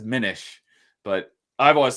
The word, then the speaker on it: Minish: I'm assuming he says Minish, but Minish? the second I would make the first I long, so it would be Minish by the rules of vowels.